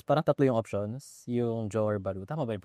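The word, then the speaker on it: Johor Bahru: Iyung Johor Baru. Tama ba yung pronunciation? Johor Baru.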